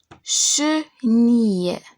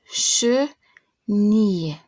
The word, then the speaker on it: chenille: Ça veut dire quand je le prononce « i » et pas « il ». Chenille, chenille.